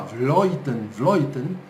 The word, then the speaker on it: Vleuten: A Annemiek van Vleuten, que se escreve Vleuten, mas se fala Vleuten, holandesa da cidade de Vleuten.